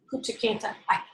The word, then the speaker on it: Punta Cana: We're going to go to Punta Cana. Is that how you say it, Twyla? Yeah. Punta Cana.